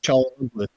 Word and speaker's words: Çalhanoğlu: Yilmaz Çalhanoğlu. Is what? Sorry. His name's Çalhanoğlu, I believe is how you pronounce it.